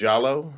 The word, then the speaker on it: Diallo: it you know uh it should be pronounced jalo it's a west african name my parents just you